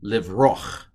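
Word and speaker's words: לִבְרֹחַ: It's a patak, but it's a furtive patak. It's a little A, just a little bit of A to get from the O to the ch. So live roch is the way you would pronounce that, and that's a patak.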